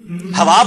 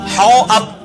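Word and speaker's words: حوأب: लफ्ज है हौ अब, हवाब नहीं है, लिखने में हवाब होगा लेकिन वो अलिफ के ऊपर जबर है, खड़ी जबर नहीं है, हौ अब।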